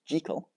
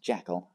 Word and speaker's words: Jekyll: the pronunciation well in Scotland the surname is pronounced jekal and since Robert Louis Stevenson himself and I